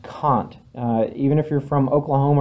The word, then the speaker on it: Kant: that it is pronounced Kant. Even if you're from Oklahoma or Arkansas, it is not pronounced Kant. It is pronounced Kant, just so you know.